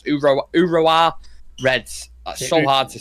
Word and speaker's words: Urawa: Can you imagine Roy Hodgson trying to pronounce that? Okay, it's I've just put it down, so it's Urawa Reds. Urawa Reds. Urawa.